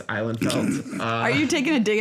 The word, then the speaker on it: Ihlenfeldt: It's Ihlenfeldt. That's how you pronounce it. It's Ihlenfeldt.